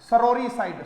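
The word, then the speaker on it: sororicide: और सिस्टर के लिए वर्ड आया है सोर्रीसाइड, सरोरीसाइड, सॉरी नहीं सरोरीसाइड।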